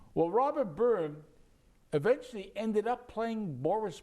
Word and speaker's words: Byrne: is in cyrillic now if you were to pronounce it in cyrillic his name would be beern but it's robert byrne now robert burton who's